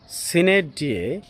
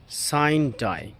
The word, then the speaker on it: sine die: British উচ্চারণটি হচ্ছে সিনেট ডিয়ে এবং আমেরিকান উচ্চারণটি হচ্ছে সাইন ডাই।